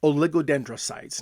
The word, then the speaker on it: oligodendrite: So, what I learned was that there's a word called oligodendrites.